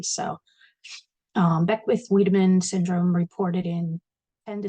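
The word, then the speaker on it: Wiedemann: with wamin syndrome that is the way it's pronounced according to how I researched it thought it was vitamin but I heard I'm saying wedaman so um be with wedaman syndrome reported in 10 to 22% of fetuses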